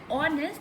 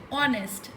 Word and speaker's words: honest: For example, we have words like honor, are, honest man, where although they begin with a consonant that is H, but H is silent here. When you say honest, the sound is of O, honest, and R, O, R, and honor.